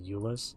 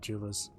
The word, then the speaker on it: Eulus: Oh, it's pronounced Eulus? Sorry. I've been calling him Julius.